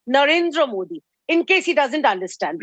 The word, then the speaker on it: Narendra Modi: your show he precisely he pronounces our honorable PM's name as Narendra Modi please tell him the name is Narendra Modi in case he doesn't